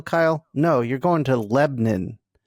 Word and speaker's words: Lebanon: going to Nashville Kyle no you're going to Lebon it's spelled Lebanon but in Tennessee they pronounce it